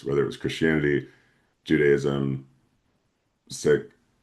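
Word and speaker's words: Sikh: I'm like wait is it sik? I know I know my pronunciation was corrected and I think I've forgotten it already. Yeah most people say sik but it is um it looks like six is s i k h.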